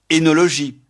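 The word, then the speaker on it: œnologie: Leur correspondant français s'écrit avec la double voyelle OE, mais prononcé E. Édipe, énologie, ésophague, fœtus.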